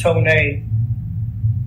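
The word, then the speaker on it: Tonéx: Y'all remember Tone A, that first record he did, Pronounced Tone A, old record.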